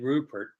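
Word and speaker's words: Rubbert: I think I heard somebody say on the radio, it's Ed Rupert. The B's are pronounced like P's.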